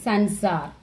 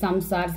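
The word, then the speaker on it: संसार: After the, suppose this is Sansar. After Yarala, Yarala, Va, Sha, Sha, Sha. After this dot, this letter, we have to use Immar, Sha. Some of them used to read this Samsar, Sansar, like that.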